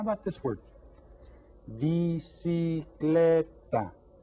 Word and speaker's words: bicicleta: Bicicleta. How many syllables? 4 syllables. And which one is stressed? Bicicleta. Bicicleta. Bicicleta. The third syllable has the stress on it.